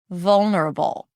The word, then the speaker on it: vulnerable: The emphasis is different because the first syllable is more stressed. So I engage more energy here. Vul, it's a little higher in pitch than the rest of the syllables that are soft, lower in pitch, and shorter.